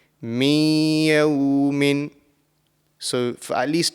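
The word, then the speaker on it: مِنْ يَوْمٍ: So the correct pronunciation of this will be min yawmin.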